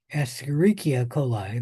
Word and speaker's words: Escherichia coli: coli rather than say Escherichia coli the first time. They should, they don't always, but they should spell it out the first time and then abbreviate it.